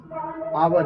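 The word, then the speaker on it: hour: बच्चे यहाँ पर देख पा रहे हैं कि कंसोनेंट लेटर का प्रयोग हुआ है, एच है, लेकिन इसका उच्चारण आवर है।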